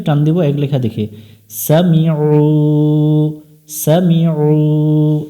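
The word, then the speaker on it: سَمِعُوا: দিব এক লেখা দেখে সামিউ সামিউ এখানে অনেকজনে আইনটা ভুল উচ্চারণ করে উমজার মত উচ্চারণ করে গলা চেপে উচ্চারণ করব সামিউ লাম জবর লা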